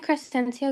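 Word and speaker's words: Crescencio: Uh Crestencio. Can you spell it, please?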